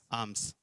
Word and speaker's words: alms: में लिखा है आर्म्स, यानी कि ALMS, एल इसमें साइलेंट है, ALMS, आर्म्स कहते से।